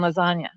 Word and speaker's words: lasagna: Remember, never let them see you coming like the silent G in lasagna.